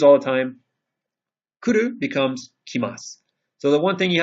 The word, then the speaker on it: kimasu: Kuru becomes kimasu. So the one thing you have to remember is that this character, even though it looks the exact same, changes from ku to ki. Kuru, kimasu.